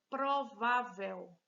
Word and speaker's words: provável: Próxima palavra, provável. Provável. 3 sílabas. Provável. Veja que tá fácil demais, já tá com acento. Se tem acento, essa é a sílaba forte. Se fosse aqui oxítona, como essa é paroxítona.